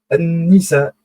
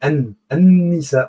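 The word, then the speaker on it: النساء: An-Nisa, les femmes. Vous voyez, An-Nisa, on n'a pas prononcé l'article Al, donc c'est féminin.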